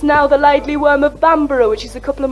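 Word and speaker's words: Bamburgh: cheated, and it's now "The Laidly Worm of Bamborough," which is a couple of miles up the coast.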